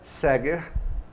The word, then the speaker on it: Saeger: satisfação hoje aqui Vanessa Seger. Tá vendo que o escritinho é diferente, mas a pronúncia é essa.